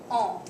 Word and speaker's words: en: Aujourd'hui, on va discuter le pronom on. Et ça s'écrit comme ça. E-N. Ça se prononce on.